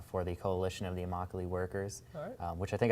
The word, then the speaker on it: Immokalee: the coalition of the immokalee workers uh which i think i mispronounced that in the in the video by the way but uh i think i said oh mockely but it's it uh emockly but yeah and basically